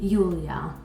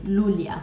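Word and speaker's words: Iulia: So yeah, Julie by Queen, Julia. Or as Brits like to say, Lulia, but it's actually an I, not an L.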